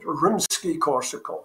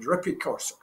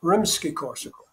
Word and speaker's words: Rimsky-Korsakov: And she said, Rimsky-Korsakov. And he said, Rippy-Korsakov. No, Rimsky-Korsakov. Rimsky-Sikakov. No.